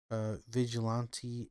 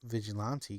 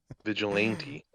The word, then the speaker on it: Vigilante: Um, and I growing up I didn't pronounce them Vigilante because I didn't know that was a word. Vigilant. I just call them Vigilant. That's fucking even better. Yeah, I'm like, oh, Vigilant 8. Vigilante. Yeah.